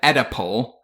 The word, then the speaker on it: Oedipal: And just to clarify, in case my pronunciation was weird, I didn't say edible, I said Oedipal.